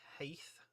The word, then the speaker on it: Heth: I've heard it pronounced Heth before, but I just assume they are morons and don't know how to pronounce it. No, I'm not going to say that because some of you out there might say Heth. I say Heath and I believe it to be Heath. I believe that's how it should be pronounced.